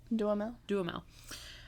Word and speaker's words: Duhamel: Duhamel. Like Josh Duhamel, the actor.